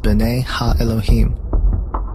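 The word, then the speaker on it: בני האלוהים: of God mentioned here in the Hebrew is pronounced Binet ha Elohim the Septuagint which is the Greek translation of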